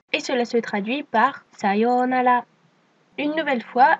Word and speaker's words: sayonara: Une nouvelle fois, attention au O long, mais également au R qui ne se prononce pas R comme en français, mais qui ressemble plutôt à un L. Ce qui donne donc sayonara.